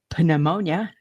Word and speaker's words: pneumonia: walking pneumonia and I'm like how do you spell it pneumonia pneumonia yeah right and then it got me